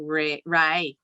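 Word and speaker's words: Ray: So there's a house down and it's called Rye, but it's spelled R-A-Y.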